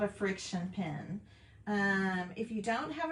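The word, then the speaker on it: FriXion: A friction pen is awesome, y'all. This is by Pilot. It's spelled F-R-I-X-I-O-N.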